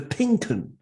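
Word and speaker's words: Pink 'Un: And he's the chief Norwich reporter, and he's also got his own Norwich podcast called The Pinken. The Pink One, if you like, but it's spelled UN, the Pinken.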